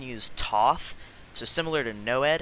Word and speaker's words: NOED: have changed it to the acronym noed which most people pronounce as noed so if you hear